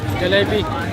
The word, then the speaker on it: jalebi: How do you pronounce these? Jalebi.